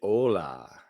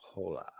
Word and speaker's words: hola: But the quenta, it's hola, not hola. Ironically, we'd also we don't pronounce our h's in the north of England. So, you know, it would have been normal for me to say hola rather than hola.